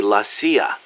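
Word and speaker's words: la CIA: around here they say lacia instead of CIA huh nothing strange about it that's how it's pronounced when you read it in Spanish it has the feminine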